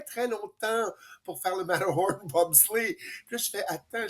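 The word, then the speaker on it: Matterhorn: En passant, pour les gens qui savent pas, Mathor Horn, c'est la la prononciation allemande. C'est la montagne, le cervin, en fait, c'est le servin qui était sur la frontière de la Suisse, mais quand on le prononce en allemand, c'est le mhor Horn.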